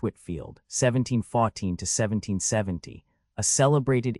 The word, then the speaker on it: Whitefield: 79 George Whitefield pronounced H. Whitfield 1714 to 1770 a